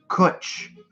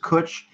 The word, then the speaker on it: Cwtch: the best word ever pronounced kuch there we go there's some answers pronounced kuch it simply means a